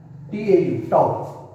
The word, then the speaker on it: tau: ये साइन है, टाउ बोलते हैं इसको, टाउ प्रोनाउंस करते हैं TAU, टाउ।